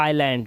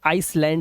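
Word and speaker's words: island: के लिए बोलते हैं ऐसे इसे पढ़ते हैं आइलैंड लोग इसे आइसलैंड बोल देते हैं आइसलैंड नहीं है ये आइलैंड है तो आज की इस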